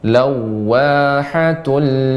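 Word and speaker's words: لوّاحة: Ya, mengucapkan waw yang tasydid ditambah dengan monyong ya. Ketika kita mengucapkan waw terlebih tasydid, wawnya dimonyongkan. Lawahatul lil bashar. Baik Ustaz. Lawahatul lil bashar. Namun jika dia bukan idgham bi gunnah ya, maka tidak dipanjangkan, cukup diain saja. Lawahatul. Adapun tadi ibu membaca lawa kepanjangan, cukup dia diayun saja.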